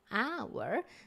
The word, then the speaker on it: hour: pay your attention to H is a consonant right but we don't pronounce it we say an hour so this way it's